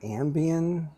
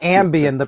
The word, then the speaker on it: ambient: Ambien? Am I saying it right? Not Ambien, the pill, like ambient. Ambient.